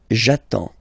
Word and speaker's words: j'attends: So the first form will be j'attends, okay? You get D and S, well, basically you don't pronounce them, okay? And then you get only the sound attends, nasal here, en, j'attends, okay?